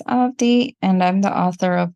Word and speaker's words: Avadhi: The second A in the spelling is silent, so it's pronounced as Avadhi, and I'm the author of two books.